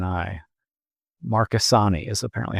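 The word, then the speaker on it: Marchesani: M A R C H March E S A N I Marasani is apparently how she pronounces that.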